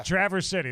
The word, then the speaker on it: Traverse City: a show traverse city is that right yeah traverse city that's how you you you got it you